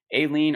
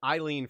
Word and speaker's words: Aileen: You said it right. That is how you say her name. I said Eileen for many weeks, months, years, and she corrected me one day.